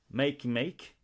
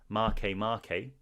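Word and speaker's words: Makemake: aries it's serious there's make make i believe that's actually it's way it's spelt make make but it's actually pronounced marque marque and there is another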